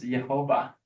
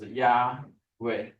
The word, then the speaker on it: Yahweh: those Jewish scribes, and they try to pronounce this as what? As Jehovah. Jehovah. Or Germanites become Jehovah. Have you seen this in the Bible? But this is the wrong translation.